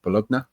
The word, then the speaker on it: Bologna: Uh now he's at Bolog Bologna is that how you say it in in Bologna. Thank you. Your Italian pronunciation is a lot better than mine.